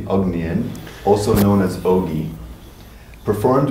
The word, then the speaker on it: Ognjen: During his career as a bass and guitar player, Ognjen, I'm pronouncing that correctly, Ognjen, also known as Ogi, performed with They like that.